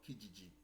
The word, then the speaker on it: Kijiji: down properly in Canada, is a website called Kijiji. Kijiji is spelled K I J I J I, Kijiji.